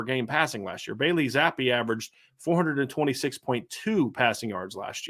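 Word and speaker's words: Zappe: They held Bailey Zappi. It's how you pronounce his name, correct?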